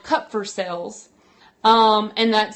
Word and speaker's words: Kupffer: discovered them but it if you say cup like a cup cup for sale that's how you say it cut for sale